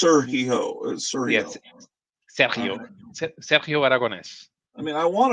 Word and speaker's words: Sergio: to that yeah yeah in Spain it would be Sergio aragones okay all right you have you have to stress the the E A little yeah Sergio it's Sergio yes I mean I